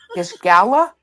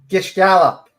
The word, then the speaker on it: Gish gallop: Gish gala? Gish gallop. Spell it.